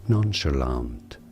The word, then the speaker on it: nonchalant: it in British English it he said as nonchalant nonchalant so basically nonchalant te end nonchalant but